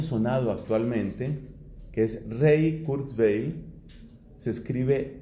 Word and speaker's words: Kurzweil: actualmente, que es Ray Kurzweil. Se escribe R-A-Y. Les sugiero que tomen nota de ese nombre porque es una persona que suena bastante. R-A-Y, Ray, y el apellido es con K, Q-R-Z-W-E-I-L, Kurzweil.